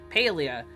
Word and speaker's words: Palia: uh sorry no Pia that's how the deaths pronounce it Pia tonight because one it's been a while since